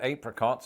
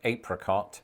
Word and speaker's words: apricot: century with cada because while many Americans do share my pronunciation of apricot I was completely and utterly a little bit stunned the first time I heard an American say apricot I assume that this